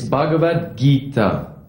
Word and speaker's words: Bhagavad Gita: that that name right your attempt at pronouncing the sanskrit language was noble it's bhagavad gita why don't you try